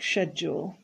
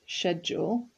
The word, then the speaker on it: schedule: Work environment, work schedule. This word, if you're British, is pronounced schedule. If you're American, schedule. So both are correct.